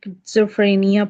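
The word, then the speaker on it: schizophrenia: अब यह है एक वर्ड जिसे जो है वो हम प्रोनाउंस ऐसे करते हैं कि kids free a new okay अ किड्सोफ्रेनिया किज्जोफ्रेनिया पढ़ते हैं इसको हम लोग।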